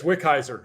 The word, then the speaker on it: Wickizer: their name is, how the hell do I pronounce that? Yeah, it's Wickizer.